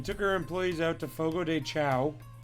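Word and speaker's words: Fogo de Chão: i see we took our employees out to fogo de chao it's actually pronounced fogo deshone and um it's where they bring you all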